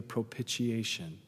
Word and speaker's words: propitiation: son to be the propitiation for our sins. It's a big $3 word, isn't it? Propitiation. Five syllables, wow.